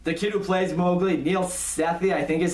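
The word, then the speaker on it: Neel Sethi: The kid who plays Mowgli, Neil Sethi, I think is how you say his name.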